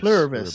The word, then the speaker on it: Pluribus: I have trouble pronouncing this, but I think it's Pluribus. Pluribus, that's it.